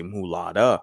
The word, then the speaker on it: mulatta: a light-skinned mulatto girl now the correct right kind of pronunciation she'd say mulatta girl which we have in